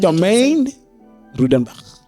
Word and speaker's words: Rautenbach: Did you pronounce it correctly? Yes, 100%. Domaine Rautenbach. Okay. Yeah. But you must have like an Afrikaans. Rautenbach. Yeah. It's very harsh.